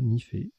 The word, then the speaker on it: nife: On a joué Nife, N-I-F-E, Vous aurez la définition tout à l'heure, ça se prononce bien comme ça, Nifé.